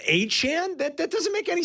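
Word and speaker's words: Etienne: I didn't know the ETN brothers were saying that we've been saying their name wrong and it's pronounced Aan.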